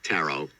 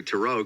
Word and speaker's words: tarot: Kim, I'll tell you, I used to say tarot, and then I gravitated to tarot because I realized it's the way to say it.